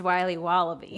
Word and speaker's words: Wiley Wallaby: willy's wallabies wallaby wallies will be wobbly it's pronounced wiley wallaby well it's very good it's called wiley wallaby